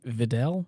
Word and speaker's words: Videl: know I knew of the character is it Videl yes Fidel okay I want to make sure I was pronouncing it right and and wait am I